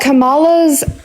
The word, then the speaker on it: Kamala: green party um but kamala's Kamala is how you pronounce her name I don't care it's